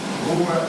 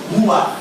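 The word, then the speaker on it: רוח: A pronúncia não. A pronúncia, porque no hebraico, toda palavra que termina com CH tem som gutural de 2 R. Ruach.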